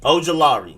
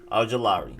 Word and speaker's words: Ojulari: But yeah, Azeez Ojulari. More emphasis on the law read than the OG.